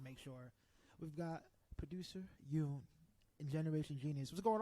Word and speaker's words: Yun: Yoon. So up. So if you do the accent, it goes up. Yoon.